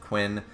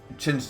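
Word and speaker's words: Qin: against uh uh chin or Quinn it's it's pronounced chin but it's Quinn uh the Emperor of China right so obviously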